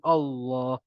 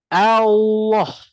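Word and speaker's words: الله: Allah Subhanahu waala jadi dalam ejaan Allah ni dia dieja dengan ah Hamzah barik atas kalau Hamzah barik atas tadi saya cakap bunyi dia macam mana Ah betul tak mulut terbuka a a makanya kita Tak bolehlah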